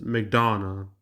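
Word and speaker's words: McDonough: Who's Okay, Neil Mcdana or Yeah, Mcdana. I looked up how to pronounce his name. Says Mcdana.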